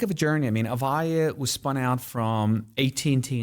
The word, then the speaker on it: Avaya: So one of those companies that you had a real impact on was a company called Avaya. Did I pronounce that right?